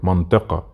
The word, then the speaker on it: منطقة: Try to take a guess how Masri will pronounce this word, منطقة. Here we go. We said earlier that the قاف, Masri, they say it A. So they say it منطقة.